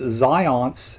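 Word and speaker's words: Zajonc: his last name it's zions it rhymes with science kind of more or less so no not john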